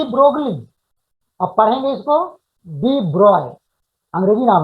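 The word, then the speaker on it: de Broglie: लिखेंगे डी ब्रोगली, लेकिन pronounce करेंगे डी ब्रॉय, ठीक है।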